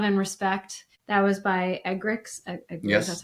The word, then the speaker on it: Eggerichs: That was by Eggerichs.